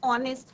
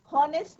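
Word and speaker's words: honest: एन ऑनेस्ट मैन, ओ का pronunciation हो रहा है। N honourable man. ठीक है, तो यहाँ पे हावर नहीं होगा, हॉनेस्ट नहीं होगा, यहाँ पे क्या हमारा एच इज साइलेंट।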